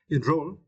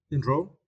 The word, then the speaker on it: enroll: yeah and as uh enroll right in rooll and for this question you need to stress the second cable ro ro enroll enroll is meant to arrange